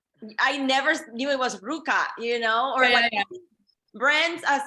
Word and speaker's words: RVCA: first I never knew I never knew how Ruka was pronounced for forever I always said like RVCA I never knew it was Ruka you know or Brands as a as a